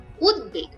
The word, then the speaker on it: উদ্বেগ: উপসর্গের ক্ষেত্রে দ এর সঙ্গে ব ফলা বাংলা উচ্চারণে অবিতৃত থাকবে যেমন উদ্বেগ উদ্বেগটা কিন্তু যোগ বেগ এটা যখন সন্ধিবদ্ধ হয়ে